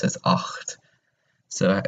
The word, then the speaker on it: acht: to pronounce it as acht. So you have to have a little bit at the back of the throat whenever you say that number.